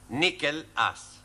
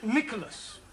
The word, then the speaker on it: Nicholas: upon a times there was a man called nickel ass it's not quite right no no once upon a time there was a woman called Nicholas it's pronounced Nicholas all right once upon a time there was